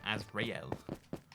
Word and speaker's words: Azrael: That's how you say it, Azrael.